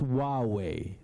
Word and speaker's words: Huawei: to be difficult so we have a way of saying it and it's just wow way this is the way